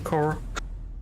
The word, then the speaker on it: Corps: Corps faktycznie wymawia się Core. Po prostu. Core? Tak. Tak, w każdym razie Google tłumacz mi mówi. Nie chodzi o 2 trupów, tak? Że ciała. S jest po prostu niewymawialne.